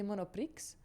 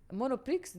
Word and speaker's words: Monoprix: it sounds nice, but Monoprix, the X is silent in French. And it used to piss me off when I hear people, you went to Monoprix? I'm like, Monoprix.